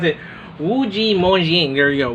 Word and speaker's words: Wu Ji Mo Xing: Getting you mispronounce it. Wujimoxing. There you go. Wujimoxing.